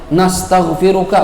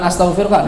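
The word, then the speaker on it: نستغفرك: Nastaghfiruka, bukan astaghfiruka, nastaghfiruka wa natubu ilaik, itu sunnah gitu.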